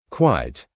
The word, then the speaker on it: quite: Tip: Quiet has two syllables when you say it, but quite has only one.